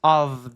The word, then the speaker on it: of: Esse of é a preposiçãozinha de e esse f não se pronuncia como f, é como um v. In process of the seasons.